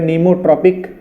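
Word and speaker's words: pneumotropic: पहला, first, new, P silent है, नीमोट्रॉपिक, नीमोट्रॉपिक या नीमोट्रॉपिस, ठीक है।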